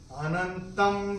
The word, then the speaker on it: अनंतं: व, और अनुस्वार के बाद जब व होगा तो अनुस्वार के उच्चारण होगा म। अपनी किताब में आप नोट कर लीजिए। अनंतं विश्वतोमुखं सर्वाश्चर्यमयं देवम् अनंतम विश्वतोमुखम।